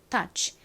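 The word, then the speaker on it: touch: 한 번 더 해볼게요 끝에 소리는 세게 터치 이렇게 하지 않고 다 이렇게 끝부분을 약하게 바람 빠지듯이 소리를 내주시면 더 발음이 자연스럽습니다 해볼까요 ou 좋습니다 치의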